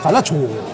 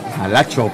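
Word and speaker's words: Jalachó: Dice Miki Cabrera, Jalacho, acento en la O, amigos. Jalacho. Jalacho, perfecto.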